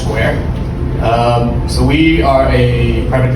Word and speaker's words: Sqr: So it's SQR, they pronounce Square.